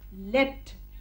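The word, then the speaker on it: leapt: और छलांग मारी तो लीप का पास्ट टेंस हुआ लेप्ट। क्या हुआ? लेप्ट। लेकिन इसकी स्पेलिंग होगी L-E-A-P-T, लेप्ट मतलब छलांग मारी।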